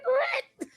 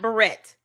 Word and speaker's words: beret: Cuz beret is how you pronounce that word. Not barrette. If you are saying that, you've never heard the song.